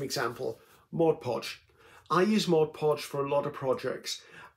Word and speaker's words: Mod Podge: I use Mod Podge for a lot of projects.